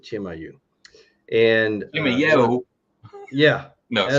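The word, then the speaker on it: Chimayó: It's Chimayo, and they pronounce it Chimayu.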